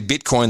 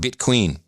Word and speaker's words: bitcoin: way in in iran they don't say bitcoin they call it bit queen because that's a mispronunciation it's stuck i like it by the